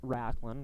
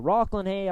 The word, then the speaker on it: Rocklin Hay: dad of rocklin hay we've been pronouncing it racklin well i've been pronouncing it rocklin and these guys have followed suits so rocklin hey scoring his first goal